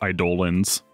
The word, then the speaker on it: Eidolons: This is where I realized that the Eidolons is pronounced Eidolons.